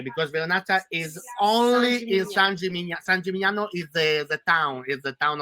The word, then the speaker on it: San Gimignano: No, only Vernaccia is okay, because Vernaccia is only in San Gimignano.